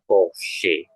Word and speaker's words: Porsche: Ya, karena huruf CH-nya sudah di bagian terakhir ya posisinya sebenarnya. Jadi dia dibacanya sama seperti SCH tadi ya, dibacanya Porsche.